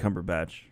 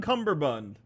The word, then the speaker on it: Cumberbatch: if it was benedict cumberbatch i love when people pronounce his name wrong they're like bondi on cumberbund yes mr cumberbund so i think they